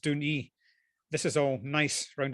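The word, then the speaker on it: Dùn Ì: And the best place to go and catch all these views is the highest point called Dún E. It looks like Dun 1, but it's pronounced Dún E.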